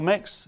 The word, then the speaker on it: Mx: use the prefix mix i think it's pronounced mix mx mix what do we make